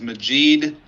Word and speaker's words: Majid: My name is Majid like magic.